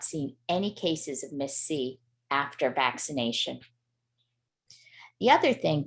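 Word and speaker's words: MIS-C: So Miss C, which is spelled MISC, stands for multisystem inflammatory syndrome in children.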